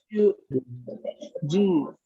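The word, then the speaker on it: じゅう: Yu. Atención, Q y Yu son U larga.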